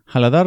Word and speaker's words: Haladhar: Another friend explained to me that the last vowel should not be pronounced. Haladar never corrected me, but